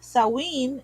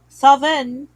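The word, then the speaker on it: Samhain: word meaning Summer's end it is pronounced sa in Ireland saen in Wales Saven Scotland and pumpkin spice in America fun fact about your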